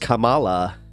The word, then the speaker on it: Kamala: So it's pronounced Kamala, just FY.